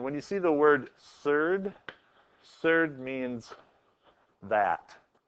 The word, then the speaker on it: surd: you see the word surd surd means that like the square root of two is the third of two I don't know kind of fun just to say that word rhymes with GERD